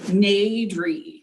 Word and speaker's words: Nadri: Nadri. It's pretty phonetic. Like people, I think, look at it and like freeze up.